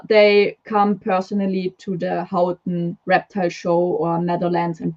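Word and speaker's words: Houten: the how in show The Who Am I pronouncing that right the Hooten show um yes it's out no Hooten it's fun to say either way that's not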